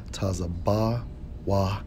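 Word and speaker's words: צבוע: Strong's H 6641, pronounced as Tazabawai, which means colored, variegated, speckled.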